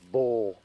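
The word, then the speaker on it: Buhl: as you can see that says bu HL pronounced Bowl storage shed that sets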